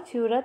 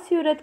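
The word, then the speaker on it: Seurat: 19 सोरा, George स्यूरत को सोरा भी कहते हैं, हिंदी में इसको सोरा कहते हैं क्योंकि सूरत लोग हिंदी में इसका प्रोनाउंसिएशन नहीं कर पाते।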